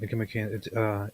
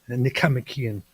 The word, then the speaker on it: Nicomachean: You said it wrong though. You said Nicomachean. You're supposed to say Nicomachean.